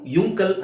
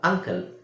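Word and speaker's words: uncle: ಇಲ್ಲಿ ಅಂತ ಹೇಳ್ತಾ ಇದೀವಿ ಯು ಯುಂಕಲ್ ಅಂತ ಹೇಳಲ್ಲ ಅಂಕಲ್ ಯು ಯು ಅಂಬ್ರೆಲಾ ಅಂತ ಹೇಳಲ್ಲ ಅಂಬ್ರೆಲ ಯು ಯುಂಡರ್ ಅಂತ ಹೇಳಲ್ಲ ಅಂಡರ್ ಸೋ ಅಂಕಲ್ umbrella ಅಂಡರ್ ಇಲ್ಲಿ ಯು ಅಕ್ಷರ ಇದೆ ಉಚ್ಚಾರಣೆ ಏನು ಅ ಇದರ ಅರ್ಥ ಏನು ಈ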